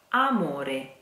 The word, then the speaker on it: amore: mono da water now please don't say the double M here it's not a morning doesn't exist that it is immoral ah very simple very easy amore get Redmond amore drama no moon let's